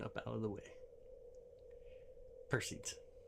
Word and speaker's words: Perseids: Per seeds. Perceds if you want to pronounce it properly.